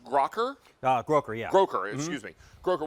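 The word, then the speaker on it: Grokker: This is pronounced Groker? Groker, yeah.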